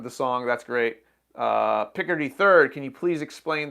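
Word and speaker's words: Picardy: the picker d third i used to always call it the cardi third i think it's picker d third is the right way to say it so the idea here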